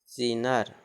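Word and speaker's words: sneer: N double E R, double E के बाद आर है तो इसका क्या ई अ हो जाएगा उच्चारण, जैसे एस N double E आर सीनर, सीनर, क्या पढ़ेंगे इसको सीनर, एस N double E आर सीनर, सीनर मतलब उपहास।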